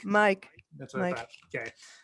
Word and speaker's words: Mic: It's from is it Mick, M-I-C? How do you pronounce that? Mick or Mike? Mike.